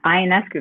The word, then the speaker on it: Ionescu: Did I pronounce that right? Yeah, Ionescu, that's perfect.